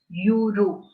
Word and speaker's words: euro: But the sound of E here is that of U. Y-O-U-U. Euro. Right? What are we saying? Euro. So the sound of E here is that of U. Y-O-U-U. So it is not a vowel sound. It is a consonant sound.